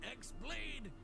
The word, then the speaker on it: X-Blade: Yeah, he means the X-Blade. It's just pronounced like Keyblade, even though it's just one Keyblade.